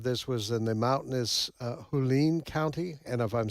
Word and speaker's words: Hualien: The center of this was in the mountainous Hualien County, and if I'm saying that wrong, I do apologize.